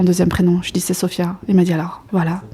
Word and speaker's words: Sofyia: a le le y et le i c'est sopia et aussi c'est toutes les sopia du Liban ça s'écrit comme ça c'est libanais ok d'accord donc